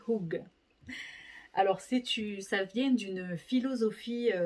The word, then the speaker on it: hygge: Alors, ça s'écrit Idj, mais ça se dit Hug.